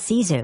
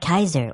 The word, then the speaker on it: Caesar: In classical Latin, the letter C is exclusively pronounced with a hard K sound. So his real name is actually more like Kaiser or if you like Kazar.